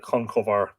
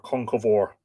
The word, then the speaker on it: Conchobar: The modern sort of rendition of Connor is Crohor, but I like Conchobar or Conchovor.